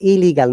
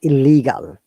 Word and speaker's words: illegal: The native will say illegal, not illegal. Not Illegal. occupation, occupation.